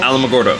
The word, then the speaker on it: Alamogordo: magoro is how how do you say Alamogordo Alamogordo yes I'm red I'll try that for so